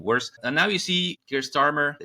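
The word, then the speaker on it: Keir Starmer: and now you see gear starmer that's the right way to pronounce his name in the UK dig in the Netherlands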